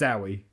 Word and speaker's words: Zowie: I was going to ask you how to pronounce it because I don't know, but it's Zowie. I guess so. Zowie Bowie. I guess so. Not Zoe Bowie.